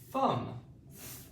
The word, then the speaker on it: thumb: You don't say this sound in some words. It is silent, okay?